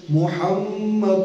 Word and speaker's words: محمد: اللہ، تلفظ یہ ہیں، میم مشدد ہے اور یہاں پر ہا ہے۔ میم مشدد میں عربی گرامر کے مطابق غنہ ہوتا ہے، کہ دکھاتا ہوں آپ کو، محمد الرسول اللہ، اور ہم